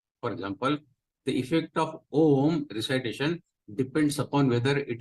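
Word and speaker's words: ॐ: any verbal articulation so om also as you know om consist of a so it depends what you prolong a or U or normally om is pronounced om Mo prolong as we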